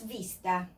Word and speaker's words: vista: This V, that is V for you, and this one don't make any difference in Spanish. They sound the same. This is vista, but we never say vista. We say vista, like this. That is sight.